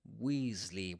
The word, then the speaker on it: Weasley: Weasley with a long e sound.